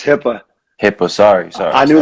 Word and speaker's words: Hyppa: have pro skill trainer coach um mentor hyper with me uh you gotta pronounce it right man it's hipaa hippo sorry sorry i knew that was coming